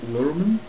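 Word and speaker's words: Luhrmann: felt too long but it is epic B lurman that's how you pronounce it but the guy you know who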